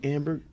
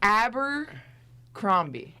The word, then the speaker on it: Abercrombie: Amber. Okay. It's Abercrombie. A-B. There's no M in there.